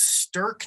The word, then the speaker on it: Sterkh: Like I said, it's Sturk Knives, but it's spelled really weird. STERKH Knives. Is this the reason why you've been talking about Zerk recently?